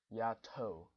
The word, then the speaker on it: YATTO: on the correct pronunciation it is pronounced yeah toe so something like that